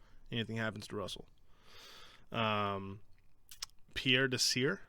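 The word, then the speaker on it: Pierre Desir: happens to russell um pierre de sir i think is how you say it he's a corner uh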